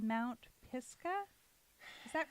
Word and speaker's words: Pisgah: Pisgah, I think I said it right. Is that the right way to say it, Shane? Yeah, Mount Pisgah.